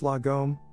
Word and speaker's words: lagom: book of lagom the swedish concept of lagom pronounced lagom roughly translates to not too little not too